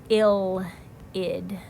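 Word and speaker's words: ylide: right here this reagent is called an ill pronounced ill heed so this is an awesome reaction because it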